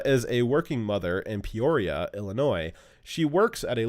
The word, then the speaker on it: Peoria: The city that Linda is from is Peoria, which almost nobody who's read this week has been pronouncing correctly, and somehow I wasn't able to read Mother.